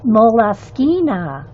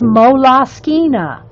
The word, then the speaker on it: Moleskine: Yeah, Moleskine, moles, moleskins, whatever everybody wants to call them.